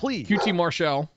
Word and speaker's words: QT Marshall: QT Marshall, that's the proper way to pronounce it, came out with Aaron Solo.